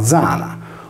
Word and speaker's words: Diana: Le migliaia di domus de Janas sarde devono il proprio nome a Diana, divinità lunare, per cui con la stessa regola Diana si leggeva Zana, come ancora chiamata nel nuorese la Giana.